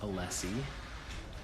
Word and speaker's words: Alessi: So her name is pronounced Alessi.